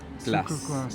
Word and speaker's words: sucre glace: Sucre glace.